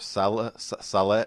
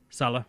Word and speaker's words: Saleh: Robert Saleh. How do you say that name? Saleh. Saleh? That's how I've been saying it. I always wanted to say Saleh. The Better Rivals podcast pronounces it Robert Saleh.